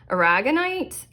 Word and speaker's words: aragonite: Okay, your gemstone, we have aragonite.